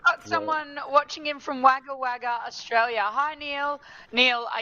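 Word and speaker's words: Wagga Wagga: I believe it's waga waga. I believe it's wagger. Why does it say what is it spelled with an a waga waga?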